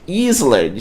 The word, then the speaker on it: island: Se você tá com a mente no português, se você tá com a síndrome do copia e cola, você vai pronunciar como Island, Island, certo?